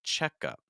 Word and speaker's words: checkup: down all run down but for a noun so in this case you're actually going to stress the first part so we're expecting this to sound like checkup run down checkup Susie